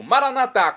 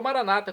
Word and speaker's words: Maranata: e agora eu clamo maranat como dizemos nós católicos ou Maranata como dizem nossos irmãos separados doos evangélicos ou protestantes não importa pronúncia significa é o mesmo